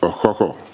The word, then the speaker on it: Okukor: receive the bronze cochran which actually is rightly pronounced a hoho but you know we